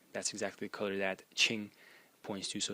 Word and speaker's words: 青: the series which are led by the character pronounced Ching in the first tone and the character means